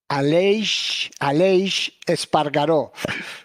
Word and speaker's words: Aleix Espargaró: And can you please pronounce his name for me? Aleix Espargaró.